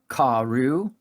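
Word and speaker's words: כָּרוּ: Karu, you'd pronounce this as karu.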